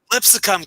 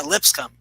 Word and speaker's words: Lipscomb: Lipsicum, cash it, baby. Lipsicum, bam. That's what I'm talking about. Are you adding a syllable?